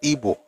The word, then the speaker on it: Igbo: So regardless of how you spell it, it is pronounced Igbo. Igbo. It's not B like Yoruba, Igbo.